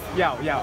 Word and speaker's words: 要: How do you say yes? When I say yes? Yao. Good job. Please ask me again so I pretend I know it. 再问他一次，我再问他一次。你要现在吃吗？要。